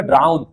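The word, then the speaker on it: drown: হয় মূলত উচ্চারণ হবে ড্রাউন মূলত উচ্চারণ হবে ড্রাউন আমাদের প্রনান্সিয়েশনে অনেক সমস্যা আছে বুঝ আচ্ছা তারপরে মেডেন্স হেয়ার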